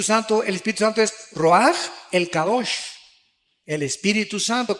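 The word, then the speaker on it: רוח: Se pronuncia roaj. Por ejemplo, cuando hablamos del Espíritu Santo, el Espíritu Santo es roaj, el cadosh.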